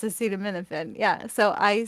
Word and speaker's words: acetaminophen: people can't even still pronounce it but it's pronounced acetaminophen yeah so I said to the 911 dispatcher